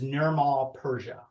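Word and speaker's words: Nirmal Purja: his real name is Nirmal Persia.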